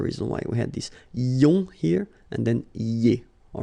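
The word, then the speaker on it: -ions: So now let's see nous, and nous goes like IONS, okay? And it should be pronounced ion. Remember, final S is not pronounced.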